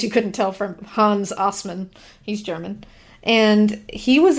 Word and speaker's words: Assmann: The next one is Hans Assmann. Hans Assman? It is pronounced Assmann, but it is spelled Assman.